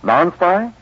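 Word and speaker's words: Nonspi: how do medical authorities pronounce n o nspi non spy they pronounce it safe from skin irritation oh because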